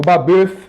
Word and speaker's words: Babeuf: O Babeuf, não é? Como se costuma pronunciar em francês, aí, até nós chegarmos em Napoleão.